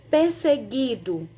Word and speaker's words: perseguido: são dois fonemas diferentes perseguido aqui também é o g u eu não não escuto o fonema uh é só o gui né como se fosse